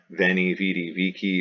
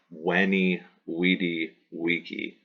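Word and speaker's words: veni, vidi, vici: sound right here that in classical Latin is browse like a W Wow so the julius ceaser quotation which is commonly in english said veni vidi vici or veni vidi vici would have been said by Caesar when e we D vici yes the goddess of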